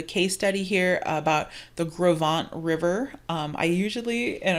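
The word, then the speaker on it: Gros Ventre: inevitably call it the gross ventri rock slide but this is actually a french word um in this is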